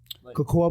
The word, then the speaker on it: Cocoa: so I mean yeah man just shoot away Cocoa Beach Florida it's spelled like that so cool it is spelled